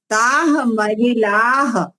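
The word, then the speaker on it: ताः महिलाः: ताह महिलाह, ऐसा विसर्ग का उच्चारण आना चाहिए।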